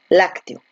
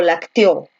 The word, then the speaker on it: lácteo: Tú dices lac, te, o. Lácteo. Tú dices lácteo, lacteo o lacteó. ¿Cómo dices? Lácteo, ¿no? Donde la fuerza de voz, ¿dónde está? Está aquí, en lac.